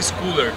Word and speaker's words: Schuller: Pronúncia Schuller. Tipo Scholes, tipo Paul Scholes, Manchester United.